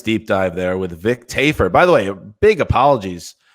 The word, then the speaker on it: Tafur: him Vic Tafur, which, based on the spelling of his name, Tafur, we wrongly inferred, nailed it, that the pronunciation of the name was Tafur, but it is, in fact, as was corrected by Vic himself in a private message after the show, Tafur. Get it right or pay the price.